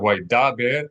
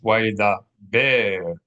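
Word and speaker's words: וַיְדַבֵּר: So instead of why da ber, it's why da ber.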